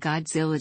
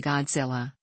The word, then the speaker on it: Godzilla: the anglicized form is with the first syllable pronounced like the word god and the rest rhyming with gorillas in the Hepburn romanization